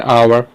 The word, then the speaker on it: hour: ठीक है, इसका प्रोनाउंसिएशन क्या है, आवर। आ से चालू हो रहा है पहला, तो हम इसके आगे क्या लगा देंगे, एन।